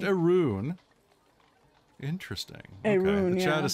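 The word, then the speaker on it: Arawn: but oh yeah I see is it pronounced Arun interesting Chad is saying it's pronounced erun yeah if you look at the phonetics media all right Arun so arun's Lodge all right thank you for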